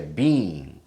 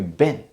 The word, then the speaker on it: been: But actually, when we actually pronounce it, we would say, how have you been? It's kind of a short word. Short sounding word, okay?